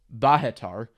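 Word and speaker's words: Bohatyr: iifa and Batar well I just said the Russian pronunciation in Ukrainian it's bahatar but I don't care because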